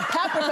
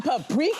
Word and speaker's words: paprika: and then you just dropped a paprika on us. And I was like, I'm sorry, I cook. I've never heard of a paprika. What is that? And I'm like, you mean paprika?